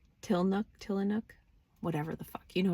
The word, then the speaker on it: Tillamook: You get guidance, and it's like, oh yeah, get the mudslide till, I call it Tillamook. I know I add an extra syllable. Where's the syllable? Tillanook, whatever the fuck.